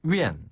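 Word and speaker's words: 院: 집어넣어 주면 되거든요 엔 한 번 더 엔 위엔 엔 엔 그래서 띠엔 위엔 엔 위엔 한번 더 띠엔 응 위엔 띠엔 응 위엔 그렇죠 이응은 아래로 뚝 떨어지는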